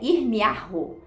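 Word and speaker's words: ירמיהו: Então, como eu havia dito para vocês que o nome do profeta Jeremias, no hebraico a gente pronuncia irmiarro, que significa o Senhor levanta, o Senhor ergue.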